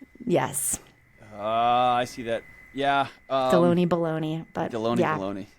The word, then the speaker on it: Delony: Yes, Deloney? It rhymes with a lunch meat.